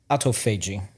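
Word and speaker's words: autophagy: It's pronounced auto fagi.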